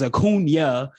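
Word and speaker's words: Acuña: He says Acuna, and like Lonzy, man, you talked last night. He has the Enye in his name.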